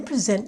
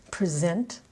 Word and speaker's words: present: Present Verb, accent on the second syllable. Do you remember that I used it in the very beginning of this episode? A present, the noun, accent on the first syllable.